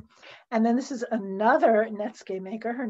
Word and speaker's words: netsuke: i have to confess even though he mispronounces it as natsuki and then even netscape i have to confess that when i was training my mind to say netsuke instead of nitsuki i thought of netscape if it just left